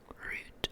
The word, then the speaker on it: route: root, Route or route are both correct.